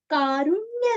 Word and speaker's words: कारुण्य: कारुण्य रूपं, रू कारुण्य का रूरस्व। अरण्य, वैसे यहाँ पे कारुण्य।